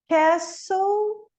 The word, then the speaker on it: castle: Castle, não falo T.